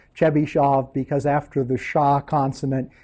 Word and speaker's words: Chebyshov: the name because the name in Russian is pronounced chish shav because after the Sha consonant you can't have an A so you will you'll see this guy called chbby Chev he's got a bunch of polinomial that he's